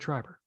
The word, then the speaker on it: Schreiber: I said Schreiber.